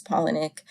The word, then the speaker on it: Palahniuk: his first name and his last name rhymed so I'm a little disappointed that to find out that they actually don't rhyme but you know I I will respect that the proper way to pronounce it is penic I apologize for last